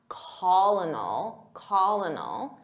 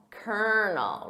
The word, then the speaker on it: colonel: So I have to think about how it's spelled phonetically because it's not colonel, it's kernel. Repeat that, kernel.